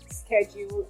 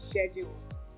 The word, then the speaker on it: schedule: So privacy for British pronunciation and privacy for American pronunciation. Then you have schedule and schedule for S-C-H-E-D-U-L-E.